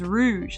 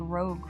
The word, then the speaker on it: Rouge: Oh, her name is Rouge. Like the makeup rouge. Uh, Rouge. Really? Is it really rouge? Wow. I've been saying it like rogue for all these years.